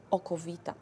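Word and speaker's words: okowita: we also start to call it aquavita from latin water of life or how polish people pronounce that okovita so to the 70th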